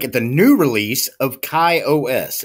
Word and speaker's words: KaOS: Today we're taking a look at the new release of KaOS. It's K-A-O-S. I'm just going to pronounce it KaOS.